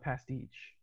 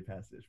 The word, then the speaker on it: pastiche: But I call it pastiche. okay. So I've been saying it wrong since I've got your comics. So I That's okay. It's all right. we haven't had a conversation to clarify that yet. So I've been telling everybody passage, but I can't read